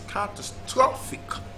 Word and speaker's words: catastrophic: cutters to think that a word is usually stressed on the third syllable so it's catastrophic catastrophic catastrophic so the